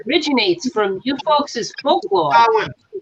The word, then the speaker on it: Samhain: Samhain or Sawan. Yeah, as it's Samhain. pronounced. You know, Sawan.